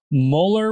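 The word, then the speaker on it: Müller: see an umlow is you can imagine like mentally take away the umlow and add an e after that vowel and you could that's kind of like a shortcut of how you could pronounce it. So muller works fine if you're just reading it as a u but it is an oo with umlout. So muer also kind of works somewhere in the middle there is probably the correct pronunciation.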